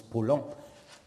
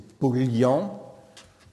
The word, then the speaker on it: Paulhan: disparu, de même que dans les patronymes comme l'écrivain Jean Paulhan, qu'on prononce Paulhan et qu'on devrait prononcer Paulian, ou encore celui du